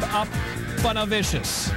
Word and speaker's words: Aponavicius: Again, the name pronounced Steve Aponavicius.